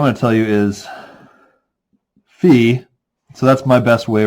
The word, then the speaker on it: phi: It's this letter, in Microsoft Word, but phi, right?